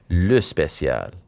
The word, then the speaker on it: Le Spécial: Use that French accent on the first word, Ariel. Le Spécial.